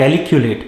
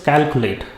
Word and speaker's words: calculate: for its potatoes next it does not calculate it is calculate if you know how